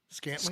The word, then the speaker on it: Scantling: Anyway, Cisco made another violent hit on Chiefs wide receiver Marquez Valdez. Scantling. Scantling. Yes. Gosh. You said it right.